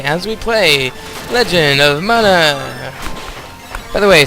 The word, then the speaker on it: Mana: we play Legend of Mana by the way some of you pronounce that Mana I think it should be mana and that's what I'm